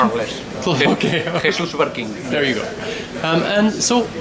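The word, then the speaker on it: Jesús Barquín: Is that correct pronunciation? More or less. Okay. Jesus Barquin.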